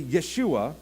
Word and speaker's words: Yeshua: you guys realize that we actually called Jesus's name wrong every single time we call him Jesus should we all just take a nap right now can you hear me okay good his name was actually Yeshua which is translated Joshua